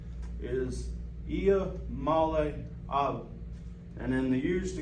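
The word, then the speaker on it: Iamaleava: am okay all right so the the correct pronunciation is I Mala and in the years to come it's going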